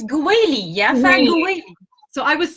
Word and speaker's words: Goawily: i'm talking with how do you pronounce your last name it's gweli yes so i was saying it in just